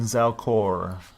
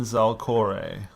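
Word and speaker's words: Zalkore: Cholt had many kings and queens, but none was more beautiful than Queen Zalcor. Zalcore, I believe. 1 second. Gotta check the pronunciation guide. Yeah. None was more beautiful than Queen Zalcore.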